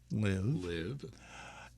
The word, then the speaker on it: LIV: starting with its name which when pronounced rhymes with give live but is actually the